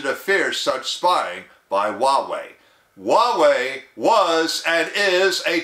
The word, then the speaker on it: Huawei: might have forgotten by now it is spelled h-u-a-w-e-i and pronounced Huawei Huawei makes smartphones and other consumer